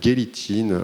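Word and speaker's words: Gelitin: Alors on dit peut-être Gélitin en allemand, moi je le prononce à la française, donc à qui j'ai consacré beaucoup de pages.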